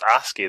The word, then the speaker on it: ASCII: by infrared moth the ASCII stuff is pretty pretty yeah oh it's a ski that's how you say it had been a long